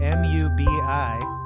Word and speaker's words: Mubi: We're working with a great streaming service called Mubi, M-U-B-I, but pronounced like a bumblebee that is a cow.